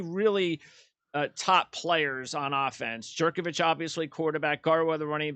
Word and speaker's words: Jurkovec: Jurkovec. I just want to make sure I Jurkovec, pronounce yeah.